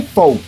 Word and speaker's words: folk: ¿Y entonces qué significa city folk? Sí, yo sé que aquí hay una L, pero aún así se pronuncia folk, el cual proviene del alemán Volk, que significa gente.